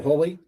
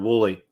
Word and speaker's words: Woolley: should be able to say that andrew andrew holy is that right did i mess it up i messed it up pronounced exactly outspelled wooly i was just overthinking it yep don't overthink